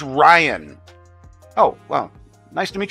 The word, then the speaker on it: Ryan: money we're talking Millions upon millions of dollars ran I'm sorry if I've been pronouncing it wrong oh you uh oh it's it's Ryan oh wellow nice to meet you Ryan I